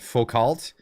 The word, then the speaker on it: Foucault: Foucault. Is that, am I pronouncing that correct?